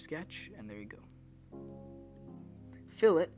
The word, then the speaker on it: fillet: Fillet, not pronounced filet.